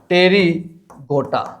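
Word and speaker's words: Pterygota: है पंख युक्त अर्थात टेरी गोटा और टेरी गोटा और टेरी गोटा के अंदर पी जो है यहां पर साइलेंट रहेगा दोनों ही केसेस में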